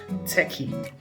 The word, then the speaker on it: TECHI: these characteristics that is spelled t-e-c-h-i and pronounced techie so here are techie